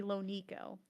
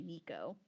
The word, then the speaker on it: LoNeko: The way people pronounce it is just, and I understand it, it's because of the Americanized vowel sounds. That when you see a vowel followed by a consonant followed by another vowel, you're supposed to elongate the first vowel sound, and that's why people say Nico, not Yeah. Nico. But Yeah. the correct pronunciation, if we're thinking about the way my name has come about, is LoNeko. But I just don't care.